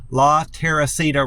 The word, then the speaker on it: La Teresita: Every time I go to La Teresita, it's spelled Terisita, I believe is how it's spelled, but it's pronounced La Teresita Restaurant on Columbus Drive.